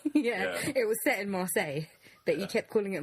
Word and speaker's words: Marseille: by the way Chris I think it's not Marcellus it's Marseille what rock city is